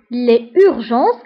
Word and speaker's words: les urgences: فهنا les urgences كنديروا لا ليزون بما انه الكلمه كتبدا بفويل فكنديروا لا ليزون دونك les urgences انعاش Réanimation.